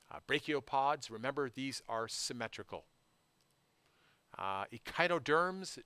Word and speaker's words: Echinoderms: Echinoderms, derm I think rhymes with worm, and this kind of wormy appendages, there's always five.